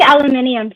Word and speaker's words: aluminium: well which I quite I think aluminium sounds better but auminum is correct it's kind of like